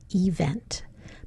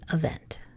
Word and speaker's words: event: If I was saying this correctly, I would say event. But we tend to schwa this and we say event.